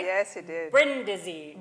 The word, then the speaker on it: Brindisi: Brindisi. Brindisi.